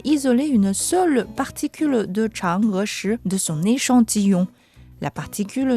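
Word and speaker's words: Chang'e: pas notre environnement radioactif la prononciation en chinois de Chang s'écrit presque de la même façon que le mot anglais change une raison de plus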